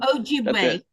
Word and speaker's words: Ojibwe: Ojibwe.